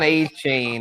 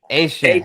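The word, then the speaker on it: Etienne: The new pronunciation, yes, not Devon A-Chain. This is Travis Asian. ATN. Yeah, or ATN for those. I put it on the ticker. I know. ATN at 17. Yeah, for sure. Asian. Yes, the Cajun pronunciation, the Cajun French way.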